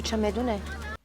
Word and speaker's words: چمدون: مال من که تو چمدونه. چمدون. This word is a noun and the conversational pronunciation of the word چمدان is the Persian equivalent of suitcase or baggage.